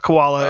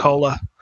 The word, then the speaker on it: Kola: It's not koala. It's Um, cola.